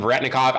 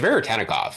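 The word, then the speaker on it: Veretennikov: Everybody calls him Veretnikov. I've called him Veretnikov in the past. It's Veritenicov.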